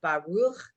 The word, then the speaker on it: Baruch: look in the box we all do say it wrong but it's Baruch we know that's our donai